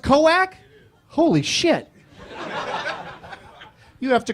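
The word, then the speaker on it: Koek: And I found a person on the internet named Cock. I apologize. It's K-O-E-K? Coac? K-O-E-K is pronounced Coac?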